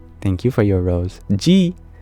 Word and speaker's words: ji: you for your rose G but not spelled like the letter G but j i g is an honorific in Sanskrit so I can just